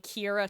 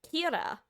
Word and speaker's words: Kira: Um similarly Kira literally is supposed to be killer.